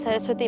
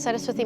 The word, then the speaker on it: Saraswathi: So just hold up the paper, say your first and last name, and spell it for me. My name is Saraswati, SARASWATHI, and then my last name is.